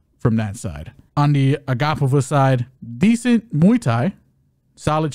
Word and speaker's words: Agapova: It's not Agapova. It's Agapova.